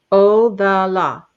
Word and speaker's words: Othala: Othala. How you say? And Odala. That's how you say this. Odala.